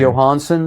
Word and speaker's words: Jóhannsson: Jóhannsson.